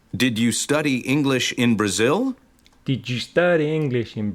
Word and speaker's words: Brazil: was born in Brazil with the stress on the second syllable Brazil oh so you weren't